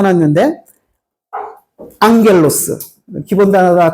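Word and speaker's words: ἄγγελος: 그 옆에 헬라우드 제가 써 놨는데 앙겔로스 기본 단어다. 다 아시죠? 감마가 두 개 겹치면 엉으로 발음한다.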